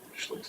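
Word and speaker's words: Schlick: l-i-c-k s-u-p and how do you say that she looks so what she looks like okay grants are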